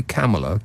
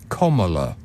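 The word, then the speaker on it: Kamala: K comma that we you want to say camela cuz that's how it's spelled but apparently it's comma um maybe I'll get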